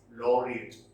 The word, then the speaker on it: laureate: to know it actually the right pronunciation is low rate white logic okay and